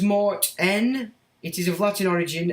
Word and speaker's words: Martin: So that's the boy's name, Martin, is pronounced Mart-N.